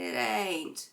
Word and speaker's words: ain't: So, make ain't even one word and don't pronounce the T.